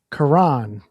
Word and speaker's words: Quran: It's pronounced Quran.